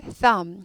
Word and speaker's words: thumb: What has a thumb? thumb은요. thumb. 이거 번데기 발음이라고 그러죠. 발음 기호로 치면 이렇게 되는 거. thumb. B는 묵음이에요. 발음이 안 나요.